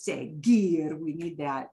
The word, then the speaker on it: seguir: That U has a job to just sit there and make the G go to a g sound. Okay. And the U is not pronounced. So its only job is to sit there and make G go into a hard sound, because C-I-G-E-S would be C-G-E-S, but it's seguir.